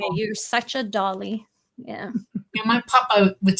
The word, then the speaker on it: Dolly: My father's father, he spoke Polish, Russian, and English, and a couple other languages, and he'd say Dolly. Dolly. That- Yeah, the emphasis would be on the first syllable.